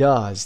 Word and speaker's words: does: Do and does. تلفظ شما آورده do, does. Does رو با آی کوتاه آورده. مثل کلمه bus, مثل کلمه cup به این صورت.